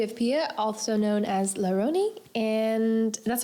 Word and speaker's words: RONY: Today we have Pia, also known as RONY, and that's how you pronounce it, right?